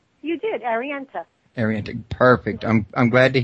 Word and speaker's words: Arienta: Now, Arienta, Savannah, first I want to ask you, is did I get the pronunciation right on the name? You did, Arienta.